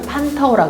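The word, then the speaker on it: 蟠桃: 중국어로는 판타오라 그러고요. 한자식 한국어 발음으로는 반도라고 합니다.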